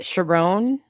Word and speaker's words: Sherrone: Sherrone rhymes with Tyrone.